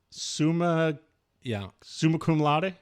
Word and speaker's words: summa cum laude: And graduated summa cum laude. Is that correct? Did I pronounce that correct?